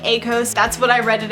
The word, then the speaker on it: Akos: This book is about two different main characters named Syra and Akos. That's how you say his name, but I'm gonna say it like Akos.